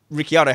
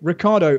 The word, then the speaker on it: Ricciardo: that move max Verstappen cop covered him off Ricky Otto had no plan B for if max did that Ricardo you nearly made me say his name incorrectly Ricardo who have made the corner if he hadn't